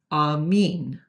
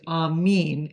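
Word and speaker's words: αμήν: Another word you might recognize is amin. Well, when I say recognize, I don't mean recognize like recognize, but the word amen in English is amin in Greek, and it's written like this.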